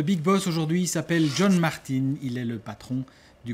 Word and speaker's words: Martin: on dit Martin ou Martine? Je m'attendais à cette question dès le début, mais au moins on dit Martin. En réalité on dit Martin, puisque les Anglais ne prononcent pas le R.